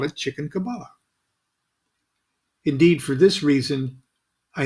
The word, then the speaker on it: Kabbalah: you are no kabbalist you don't even pronounce the word correctly it is kabbalah what you teach is not kaba la it is it is